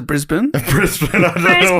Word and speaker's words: Brisbane: We actually pronounce it Brisbane.